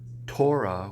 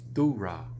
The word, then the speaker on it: Torah: to me why we keep saying things like Torah when it's Thurah, why we say shofar when it's shupar, things like that.